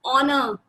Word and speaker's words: honor: In the above given example, though our first letter H is a consonant, but while pronouncing these words, H is silent.